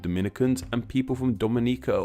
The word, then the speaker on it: Dominica: With Dominicans from the Dominican Republic, the me syllable is stressed, while Dominicans from Dominica, the ni syllable is stressed, Dominica and Dominica respectively.